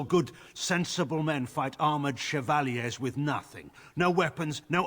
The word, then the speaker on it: chevalier: and we deal with its consequences i mean chevalier is how you pronounce it that is correct that is the